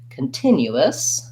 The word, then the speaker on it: continuous: let's look at that continue us it's basically just the same as continue but we add a couple of syllables so again i have my unstressed schwa come in my first syllable i have stress before the tin continuous still a clear t and the lax if